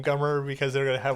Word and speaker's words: Gummer: This is Bert, how do you say his last name? Gummer. Gummer. I always want to say Gunner.